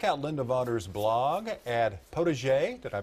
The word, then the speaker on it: potager: Well, for more info on tulips, fall gardening, and even Thanksgiving centerpieces, check out Linda Vodder's blog at potager, did I pronounce that right?